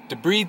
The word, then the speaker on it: debride: So I debride the area. It's pronounced debride, not debride. Debride's the one you marry.